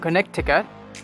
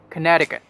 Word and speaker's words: Connecticut: this one very tricky you might be pronouncing this as connecticut it's not connecticut it's connecticut connecticut the only island